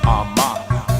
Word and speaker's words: Armah: My last name is pronounced Armah.